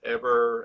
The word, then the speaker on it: Heber: I've said Heber, and I've said Heber. And what's the actual correct pronunciation of your name? It's actually Heber. Heber.